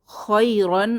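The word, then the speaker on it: خَيْرًا: নরম ইয়া খৈরন রন শেষে খালি আলিফ এটা উচ্চারণে আসবে না খৈরন খাইরন অর্থ ভালো বা উত্তম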